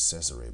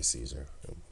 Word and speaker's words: Cesare: role of Caesar Borgia, which is Cesare Borgia, but we say Caesar. It's Cesare, but, well, they pronounce it as Cesare, tomato, tomato, right?